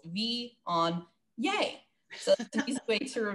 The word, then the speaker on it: Viognier: And when you see it, I always think of it in three syllables. Viognier.